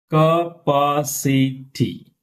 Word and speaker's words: capacity: Third syllable from them. Historical. Historical. Historical. Okay. Next. Capacity.